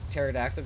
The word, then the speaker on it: pterodactyl: to see yourself out why can't you hear pterodactyl go to the bathroom cuz p is silent uhoh um double uh